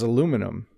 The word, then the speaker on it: aluminum: So when Quebec exports aluminum to Britain, it leaves as aluminum. And when it arrives, it's then called aluminium. Interesting how there's two pronunciations.